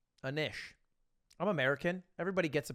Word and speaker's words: Anish: just likes the french it's phonetically like fish a niche my bad anish i'm american everybody gets